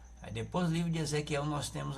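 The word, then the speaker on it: יחזקאל: Ezequiel, esse K, eles têm os judeus, eles têm um som gutural na garganta, eles não pronunciam trazendo esse som desse K, não, eles pronunciam, né, Ezequiel, com um som gutural na garganta.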